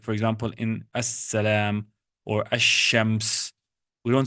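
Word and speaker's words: السلام: For example, in assalamu alaikum, you see the word actually here is al-salam. But the lam is silent. The lam is silent, so we don't say al-salam, we say as-salam.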